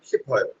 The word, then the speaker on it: 싶어요: খেয়াল করছেন আপনার 싶어요 ডাইরেক্ট বয় ফর মতো হবে না, হালকা গুন্না খাবে, মানে 싶어요।